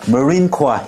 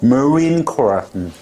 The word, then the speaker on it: Marine Corps: 자, Marine Corps 해병대. 이거 한국 사람한테 발음해보면 그냥 애워가지고 Marine Corps 이렇게 하는데 스펠링 써보라 하면 못 써.